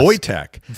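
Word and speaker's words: Wojciech: Voytech. There was there was another Polish player who played for Colorado. And this is going back years. Voytech Volvolski.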